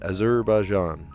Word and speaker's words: Azerbaijan: Azerbaijan.